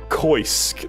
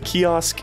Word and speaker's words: kiosk: life nice clubas koisk that's how i used to pronounce it there was a kiosk in neopets and there was a kiosk in this game and both times i thought they were pronounced koisk because i just didn't even look at it now here it is